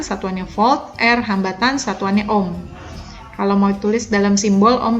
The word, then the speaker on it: Ohm: fold er hambatan satuannya om kalau mau tulis dalam Simbolon begini boleh atau kita tulis begini juga boleh Ohm dibacanya ya oke itu adalah hukum Om kita cobain di contoh